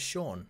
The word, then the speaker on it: Shang: See, I've been saying it wrong, and I like that's even a joke in the movie that people say his name wrong all his the name time. His name is Sean.